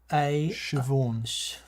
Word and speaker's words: Siobhan: Eog Hang 81, and I'm sorry if Eog Hang is one of those Irish names that we're not pronouncing right, like Adrian or something. What's the SIOA? Siobhan.